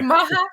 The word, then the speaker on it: Maja: Because it was Maya. Maja, Maja, Maja. Hey, you know, It's Maya. here's the thing. It's just Polish name. I know so many people from Poland who pronounce it all three different ways.